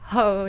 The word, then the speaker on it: Hoh: Another recommendation that I have is Ho National Park in Washington. Ho? Ho National Park. この HOH と書いて Ho ですか？